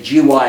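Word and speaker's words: WGY: By the way, having been in radio all those years, we never pronounced the W. Inside radio, when you were talking, you always said GY or OR. You know, don't ask me why.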